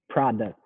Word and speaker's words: product: one i would say product product this is a tough one yeah now in this one you want to say the t sound it's it's next to